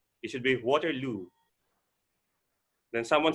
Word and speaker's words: Waterloo: also extracurricular it should be extracurricular activities then water load it should be waterloo then someone said very very very excited so